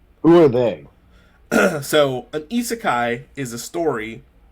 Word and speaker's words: isekai: How do you pronounce that? Okay, it is isekai.